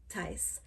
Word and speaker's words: Thijs: And it's spelled Thijs and it's pronounced Tys.